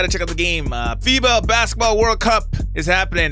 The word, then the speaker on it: FIBA: Is it Fiba? You know, the F-I-B-A, Fiba, right? Fiba, not Fuba, but Fiba. Anyways, let's get into that video, man.